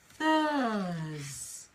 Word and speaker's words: Thursday: sound so we have Thursday yes it's a bit like thirst actually Michael yes although we don't have the test sound at the end Thursday Tuesday Thursday okay